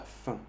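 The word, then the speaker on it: faim: Aquí tenemos la fin. La fin en español, su traducción es hombre, la hombre. F-A-I-M es la hombre. A-I-M hace el sonido un en francés.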